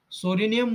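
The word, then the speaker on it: Psorinum: itching eruption of Sora sorenium word is a p Silent start from the s word and Sora P silent pronunciation r s tuberculinum tubercular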